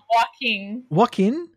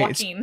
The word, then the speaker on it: Joaquin: One more time. Joaquin. Yeah, like walking, but okay, Joaquin.